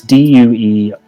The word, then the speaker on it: Duergar: How do you pronounce it? It's Duergar. I need a Dwagar.